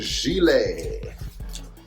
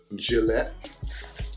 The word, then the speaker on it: gilet: This one here is a gilet, or if you don't like pronouncing things in a French way, gilet, the best a man could get.